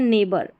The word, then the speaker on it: neighbour: तो यहां पर देखिए यह है नेबर। क्या है? पहले देखें नेबर। यहां पर यह जो जी एच है ना यह साइलेंट है। ठीक है? नेबर में जी एच साइलेंट है।